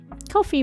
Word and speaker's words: Ko-fi: donate there as well coffee rhymes with no fee and they will be